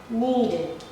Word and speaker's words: needed: And this one, if it ends in da before the ed, the base form, da here, da and da, all you have to do is to also pronounce it as id.